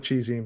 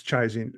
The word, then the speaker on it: ChiZine: I call it cheesing, but it's chizing because it was short for chiaroscuro.